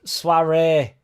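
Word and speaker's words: soirée: Sorry is pronounced soiree, Jack.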